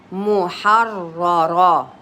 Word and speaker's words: محررة: a vowel بطني here محررة مو ميم ضمة it's مو ح فتحة ح را with a سكون with a شدة and a فتحة محررة محررة and then the third